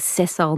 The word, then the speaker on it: sessile: Now, marine and invertebrate, I have a sense of, but what does the word sessile mean? Yeah. Am I even saying it the right way? No, you're saying it right.